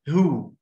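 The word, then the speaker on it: who: طب تحت هتقول زيها و، لا اسمها هو. ايه ده؟ ما في الاتش فوق ما نطقناهاش، هنا الاتش اللي نطقناها، ايوه العكس اللي بيحصل هنا في الايه؟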